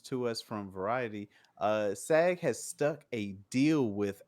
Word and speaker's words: SAG: you guys is the SAG f strike break how you pronounce it just say sag sag with a little bit more chest to say is yeah